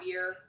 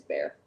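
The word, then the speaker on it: bere: A lot of people also say beer, which I'm never going to correct them, but it is bear.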